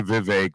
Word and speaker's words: Vivek: ask him and so he said it's actually Vivek but he's clearly used